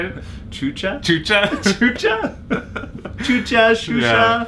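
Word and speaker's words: Xuxa: with one stone, because I'm going to introduce you to Shusha. That's how you pronounce that. Oh, Shusha. How did you say it? Chucha?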